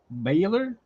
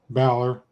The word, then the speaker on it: Balor: Is it Baylor? Balor.